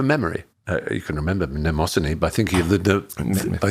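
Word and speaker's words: Mnemosyne: and one of the original females was called nemosine which is spelled m-n-e-m-o-s-y-n-e which is the greek word for memory uh you can remember nemosany by thinking of the i think of the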